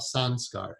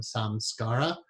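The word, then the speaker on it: संस्कार: Sun SCARA but again I lived in India the most accurate pronunciation of that word is Sun scar especially take the word out of context and just say it by itself Sun scar hey son Scott is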